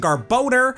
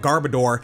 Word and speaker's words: Garbodor: I usually use the official pronunciation Garbodor because its name's a combination of garbage and odor.